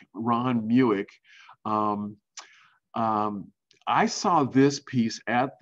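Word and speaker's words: Mueck: changing gears here to ron muic rhymes with buick ron muic i saw this piece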